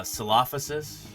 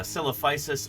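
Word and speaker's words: Coelophysis: this is that uh there's often different pronunciations that are accepted as long as your fellow scientists know who you're talking about doesn't really matter that much how you say it it's not like there's an official pronunciation for caisis some people say uh sophas yeah sophas traditionally uh copis or celop fisis as heard more commonly in recent decades you know tomato potato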